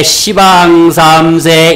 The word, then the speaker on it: 시방삼세: 우리 에브랄 때 시방삼세 이렇게 하죠. 모르는 사람은 십방삼세 잘한다 이란다 말이야.